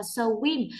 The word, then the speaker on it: swim: Tuy nhiên cô nhắc thêm đó là rất nhiều bạn đọc là swim. Hai phụ âm ghép này mình cần phải đọc nhanh hơn, chứ đọc như thế là chưa chính xác đâu.